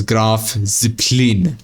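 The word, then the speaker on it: Graf Zeppelin: Now, the question is, where is that um Grav Ziplin? By the way, that's how you pronounce this German carrier. Uh right here. You see it? You pronounce it as graph zeppelin. Not graph zeppelin. It's graph zeppelin.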